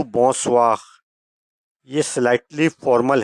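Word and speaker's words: bonsoir: इसका उर्दू में प्रोनाउंसिएशन बोजख यानी सुबह बगैर नंबर टू बोसवा यह स्लाइटली फॉर्मल है।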